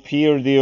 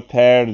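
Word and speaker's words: pear: son Elif Paris çocuklar bu Piri okunmuyor Per diye okunuyor armut demek be rayı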